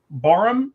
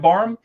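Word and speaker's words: Barham: Um, Barum, B A R H, I believe is how you say it. Barum.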